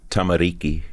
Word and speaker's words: Tamariki: How do you pronounce that? Tamariki.